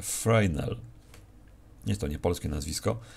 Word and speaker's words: Fresnel: przezroczystości to jest parametr który pisze się fresnel i osobiście bardziej mi się podoba taka wymowa A czyta się frel jest to nie polskie